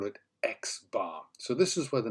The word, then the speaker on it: X-bar: we call bar so n with the prime is pronounced as n bar and if we have an X in the tree we call it X bar so this is where